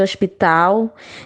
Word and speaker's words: hospital: Observe aí a palavra hospital, né? Pronuncia-se hospital.